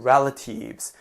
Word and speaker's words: relatives: Family and relatives. 여기도 발음 relative라고 하시는 분 많습니다. 제가 다 알죠? 친척이라는 뜻이죠? 친척은 발음 relatives로 하는 거 잊지 마시고요.